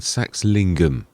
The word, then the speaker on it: Saxlingham: Sax lingum. That's it. I got to remember the word lingum is what I was sort